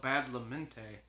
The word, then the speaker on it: Badalamenti: composer of this is Angelo Badalamenti I believe is how you say his name that sounds right to me and he's the cost